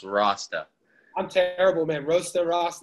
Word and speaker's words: Rosta: okay cool and uh my last name is pronounced rasta i'm terrible man roasted